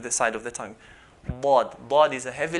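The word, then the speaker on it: ضاد: The makhraj point for dad is the side of the tongue, one of the sides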